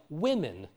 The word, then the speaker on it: women: O yes there are words like women which is pronounced with an e so again this second